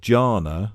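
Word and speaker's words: jhana: They use the word janna. Might be saying that wrong, but I don't think I No, that's how you say it.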